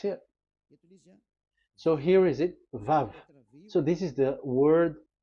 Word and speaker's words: Vav: So it's V as in Vogue. So it's really V. How to read Vogue? So the word, the shape Vav is really pronounced V, like Vogue. That is it, pronunciation. So here in this side, it's pronunciation. This is pronunciation. So according to the old Hebrew word today, those who the owner of the words, I mean, so it's a V. So don't change it into W, and you will say that